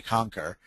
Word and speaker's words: cancer: Now, what you may not know is the word canker is, or pronounced with a broad A, conquer, is the Latin pronunciation of cancer.